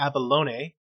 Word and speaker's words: Avalon: of the ues then avalon which um andrea told me the correct way to pronounce it the abalone uh let's see abalone